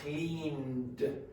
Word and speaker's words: cleaned: Clean. It's not clean it, it's cleaned. Cleaned.